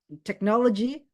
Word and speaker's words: technology: nih kalau orang ngomong kata technology pasti harus tekan di eh second syllable oke di tekna tekna bukan di tek atau bukan di Le